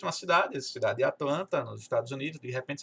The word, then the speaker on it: Atlanta: americano fala essa palavra, ele não fala Atlanta, fala Atlanta, Atlanta. Até parece que esse T não existe.